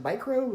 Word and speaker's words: Mikroo: And the second half is called Mikroo, but it's pronounced like micro, even though it's spelled weird, which of course, like